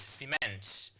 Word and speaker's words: cement: So when you are using the word, so this one now becomes, can you cement this relationship? So you stress on the second syllable here. So it's cement.